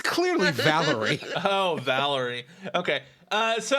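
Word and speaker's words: Valere: flashs back and I believe that that it's pronounced Valerie it's clearly Valerie oh Valerie okay uh so I will say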